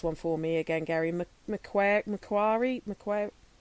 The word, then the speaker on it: Macquarie: penal system or the oh you like to pronounce this one for me again Gary McQuarrie McQuarrie McCoy Macquarie Macquarie Harbour which was another one on the